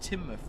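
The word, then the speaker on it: Teignmouth: It's pronounced Timmouth.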